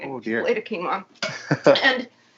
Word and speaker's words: quinoa: Now, when I first discovered quinoa, I thought it was pronounced quinoa, because that's how it's spelled. Quinoa. But it's not.